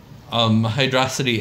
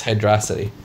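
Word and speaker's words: Hydrocity: basically the same yeah I pronounce it as Hydra City because it's one word if it was two words it'd be hydro city but if it's one word it's Hydra City we still do take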